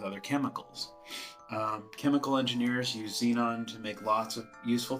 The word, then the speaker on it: xenon: So, X is for xenon. Xenon is how we pronounce it, like as if it had a Z, but it's xenon.